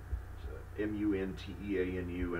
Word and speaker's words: Munteanu: Florian Munteanu, Munteanu, and I actually found out the pronunciation by going to a Romanian news broadcast so I could hear a native speaker say it.